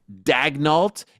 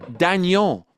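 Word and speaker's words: Daigneault: It's not Mark Dagnalt. It's Mark Daniel. These are French names.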